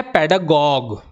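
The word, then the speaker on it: pedagogue: चलते हैं यह है पेडगॉग अब इसको क्या पढ़ेंगे भाई गॉज नहीं पढ़ेंगे गॉग पढ़ेंगे देखेंगे वर्ड्स के प्रोनंसिएशन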